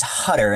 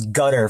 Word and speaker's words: Hutter: I thought his name was Gutter for the longest time because the font they used to say his name and then where they used narration was really weird.